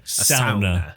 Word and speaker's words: sauna: Or as they would say, a sauna. Yeah. That's the proper way to pronounce it.